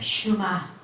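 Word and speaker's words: שמע: 그래서 원 언어는 일본에서 나온 그 히브리식 발음이 쉐마고, 원래 이스라엘 발음이 슈마인데 이게 무슨 얘기냐?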